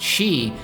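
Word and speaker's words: 四: awaits Jon in Japan the number four pronounced she is associated with death leading most buildings in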